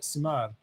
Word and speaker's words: Simard: I have a French last name too, Simard. You don't pronounce the D at the end.